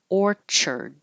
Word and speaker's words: orchard: the the flower but this CH sounds like a cha Orchard like a apple orchard stylized you can have